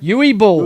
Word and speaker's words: Uwe Boll: Uwe Boll. Uwe Boll.